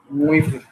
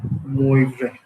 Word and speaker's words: Moivre: Não sei, isso acho que em francês seria Moivre, uma coisa assim. Mas a gente, se quer pronunciar isso em português, seria que Moivre, uma coisa assim, Moivre.